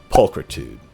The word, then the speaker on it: pulchritude: Pulchritude, a noun. Rhymes with dude, and it means beauty.